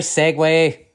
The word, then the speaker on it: segue: years now Segway better Segway okay Segway rhymes with leg Segway means an uninterrupted transition from one piece of conversation music movie scene Etc to another seg leg Segway for example in the